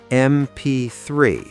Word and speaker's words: MP3: MP3 starts with M, so an MP3.